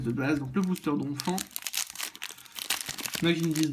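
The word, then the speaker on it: Donphan: moi je dis d'enfant le nom écrit pour les Français je le prononce à la française ETI un m devant le P parce par que devant un P on met un M et c'est tout donc je dis donfant alors al une énergie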